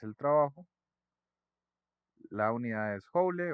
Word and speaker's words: joule: Joule. Se escribe joule, pero se pronuncia joule.